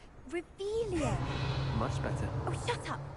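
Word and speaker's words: Revelio: Rebellion. You're saying it wrong. Ugh, Revelia.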